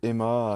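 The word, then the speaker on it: HEMA: Bah, du coup, je travaille chez Emma à Cap 3000.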